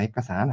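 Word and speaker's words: เอกสาร: 액과산 하시면 이렇게 발음에 주의하셔야 되고요. 자, 받침이죠. 발음이 아니라 액에다가 산이 만나서 이두 음절이 연음이 이루어져서 액과산이 되거든요. 성조도 액과산 114성이 됩니다.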